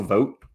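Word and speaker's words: Vought: Russell Vogt, I think is his name, is how you say it, Russell Vogt.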